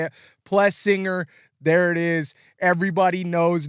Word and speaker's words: Plessinger: s's so she says plus singer oh okay yeah I've always just looked at it that way if you split the two s's it's plus and then singer yeah so um yeah